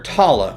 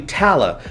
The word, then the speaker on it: Talla: who, by the way, we've all been pronouncing her name wrong all this time. We were calling her Talla, which I actually kind of still prefer, but it's actually Talla, Lieutenant Talla Kiali.